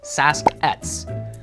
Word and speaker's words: Sasq'ets: The word Sasquatch is an anglicized version of the Stalis nation's word for it, which is Saskat. That's almost how it's pronounced in the Hulkum language.